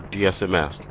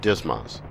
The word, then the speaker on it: DSMS: stores management system or DSM s often pronounced Dismas will conduct this lesson